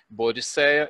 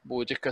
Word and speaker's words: Boudica: vídeos falando, só que uns utilizam Boadicea e outros Boudica. A rigor, parece que esse aqui, Boudica, seria a grafia e a pronúncia correta, né?